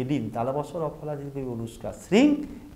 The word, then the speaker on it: শ্রীং: ম, যে কোনো একটা, উচ্চারণটা হবে শ্রীং বা শ্রীম।